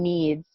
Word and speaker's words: knead: doesn't make any noise so the k in needs is silent okay so to knead